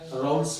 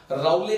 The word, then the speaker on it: Raoult: लेकिन जब English medium में इसको लिखते हैं तो आपके पास RAOULTS राउट्स होता है, टी साइलेंट होता है। हिंदी में इसको कहते हैं राउले, राउट्स लॉ बोला जाता है।